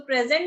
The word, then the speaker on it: present: so present ਦਾ ਮਤਲਬ ਹੁੰਦਾ ਹੈ ਹਾਜ਼ਰ ਹੋਣਾ ਜਾਂ gift, but if it is a verb you will pronounce it as present, present।